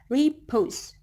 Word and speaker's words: repose: For example, repose. Re is unstressed syllable, and then pose is stressed syllable.